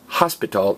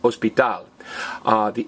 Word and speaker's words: hospital: And notice, it's not pronounced hospital, it's pronounced hospital. What is the only silent letter in Spanish? H.